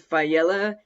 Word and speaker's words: Faiella: to introduce mr fayela did i say your name correct yes thank you i'm excited to be here even more excited that you pronounced it right that's exciting you know